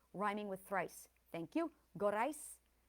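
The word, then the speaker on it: Gorice: Gorais, gorais on the last syllable, rhyming with thrice.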